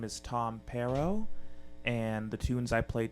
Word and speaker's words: Pearo: is just search Tom pero my last name is spelled PE aro it's like the fruit pear with an O on the end so if you like